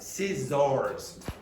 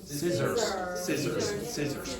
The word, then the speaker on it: scissors: It is not scissors. This is not very strong, so it's scissors.